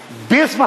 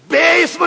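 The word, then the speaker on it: بسم: बिस्मिल्लाह में इम दिखाइए बिस्म है इम कहां ज तवज्जो रखिएगा रखा है कुरान खोल के देखिए बिस्म है बेम नहीं है अगर इम होता तो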